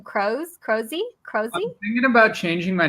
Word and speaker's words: Kroeze: Kroeze? I'm thinking about changing my name because nobody can pronounce my last name right. But it's Kroeze. Kroeze. Like Tom Cruise.